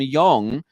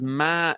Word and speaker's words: Ma: uh could in I I've just realized I've been saying his name name wrong I should be say I should been calling him Yong but his name is ma Yong Shin I should have been saying Ma I'm sorry they've written